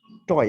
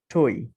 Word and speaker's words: toy: TOY টয়, এতদিন আমরা বলছি এটাকে টয়, কিন্তু আসলে শব্দটা উচ্চারণ কি? টই।